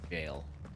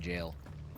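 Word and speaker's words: gaol: second to pronounce bad spelling for Gail g-a-o-l what does gale mean and then I'm like oh these weirdos are spelling jail uh I need to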